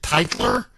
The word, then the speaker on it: Tytler: I believe you pronounce it Tytler. It's Tytler.